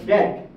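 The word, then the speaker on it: debt: এসেছে ল্যাটিন জুবিটার থেকে তারপর আরেকটা দেখেন যে দ্যাট ডি ই বিটি এটা এসেছে ডেবিটাম এই ডেবিটাম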